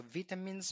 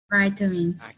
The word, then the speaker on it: vitamins: Okay, so vitamins for British English. So for American English, we pronounce this word as vitamins. Okay. Vitamins. Okay, but it's also acceptable if you say vitamins.